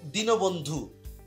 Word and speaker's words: দীনবন্ধু: তারপর হচ্ছে দীনবন্ধু, দীন দীর্ঘিকার তো রস্বীকার হবে, তো এখানেও কিন্তু দীর্ঘিকারটা কিন্তু রস্বীকার হবে। আশা করি এখানে দীর্ঘিকারটা যেহেতু দীর্ঘিকার রয়েছে, দীর্ঘিকারটা এখানে কিন্তু উচ্চারণে রস্বীকারই হবে।